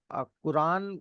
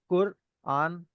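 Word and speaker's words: قرآن: कुरान हम डायरेक्टली बोल देते हैं। बट वह करेक्ट प्रोनाउंसिएशन नहीं है। कुर आन इज अ बेटर प्रोनाउंसिएशन।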